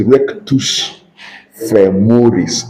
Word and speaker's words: rectus femoris: It's a Latin, it's rectus femoris. In Latin, you pronounce as spelled.